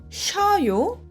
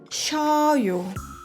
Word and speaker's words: 셔요: Aqui, 셔요 e 써요 têm sons diferentes. 셔요, vento precisa sair. 셔요. 써요, amargo, o vento não sair. 써요.